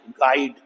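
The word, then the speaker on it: guide: After letter ji, यू is silent. अभी यहां यू तो साइलेंट है, साउंड क्या आई, आई की, गाइड। इस आई की साउंड क्या है, डिप्थोंग साउंड बन गई आई, लॉन्ग साउंड, और यू साइलेंट, गाइड, डिस्गाइज।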